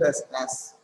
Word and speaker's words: ASS: Don't pronounce it as S. That's why I read it as ASS.